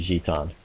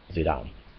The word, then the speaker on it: Zidane: But yeah, it's supposed to be Gitan or Gitan, not Zidane.